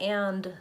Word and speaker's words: and: speech more fluent but the technical pronunciation does have a D and we use it when we're trying to be very clear that we're using the word and a great question Katherine